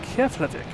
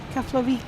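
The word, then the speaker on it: Keflavík: Coming in from Klavik. Is that how you say it, Kelly? Keflik.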